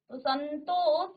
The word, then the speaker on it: संतोष: देखें लिखते भी रहेंगे समधन तोष संतोष तो इसमें न का उच्चारण देखिए यह पांचवा वर्ण है यह अनुस्वार हुआ है संतोष यह अनुस्वार हुआ है संतोष तो अब अनुस्वार में इसका इसकी ध्वनि आ रही है ठीक है आप यहां